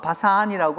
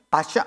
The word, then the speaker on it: 바샨: 먼저 바산이라고 하는 그 지역은 바샨, 우리말로 그냥 그 히브리어로 발음한다면 바샨이라고 발음해야 합니다. 그러니까 바샨이라고 발음해야 돼.